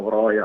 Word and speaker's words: Broja: Sì, c'è stato, penso, sicuramente un interessamento a lui, anche noi lo chiamiamo Broja, quindi penso che sia il modo giusto di pronunciarlo.